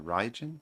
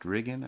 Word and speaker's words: Rigel: Uh, I thought it was pronounced differently, but uh, Ryen, but Rian apparently is how it's pronounced.